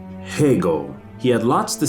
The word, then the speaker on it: Hegel: you to the man whose name rhymes with bagel hegel he had lots to